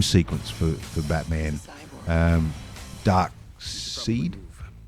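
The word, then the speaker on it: Darkseid: for for Batman um dark seed is pronounced and it's s i e d I'm only trying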